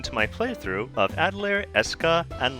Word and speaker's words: Escha: and logi and yes even though if you look at the way it's spelled you would think oh isn't that spelled Asha and Loi but uh no they emphasize the hard sound so it's Esa and logi um they really should